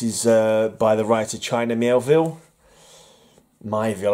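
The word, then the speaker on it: Miéville: This is by the writer China Mielville. Mielville, I always pronounce it wrong. I put an extra L into it.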